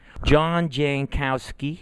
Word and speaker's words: Jankowski: John Jankowski, right? That's how I pronounced it?